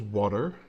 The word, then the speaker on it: water: Dragon says water with double D. I always say water with double D. Water. It's it's such a an English way I think to pronounce. Well, English is more with a T.